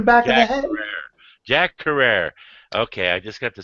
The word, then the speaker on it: Carrere: It rhymes with terror. Terror. That's how he liked his last name pronounced.